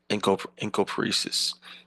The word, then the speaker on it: encopresis: That's that encopresis. Encopresis is the pronunciation, forgive me.